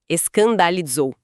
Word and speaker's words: escandalizou: A palavra usada ali é escandalizou. S andandalzou com som de Z no final. É importante frisar bem essa pronúncia. Escandalizzou.